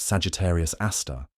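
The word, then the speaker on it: Sagittarius A*: Its name is Sagittarius A, pronounced Sagittarius Aar, and it's about 4 million times the mass of the sun.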